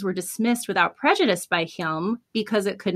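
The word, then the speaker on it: Hjelm: Waldo County Superior Court Justice Geoffrey, I believe it's pronounced Hilm, granted her damages of $21 million plus interest.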